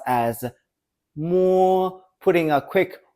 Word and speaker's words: mo: After more, it is pronounced as more, putting a quick u before o, but we write more.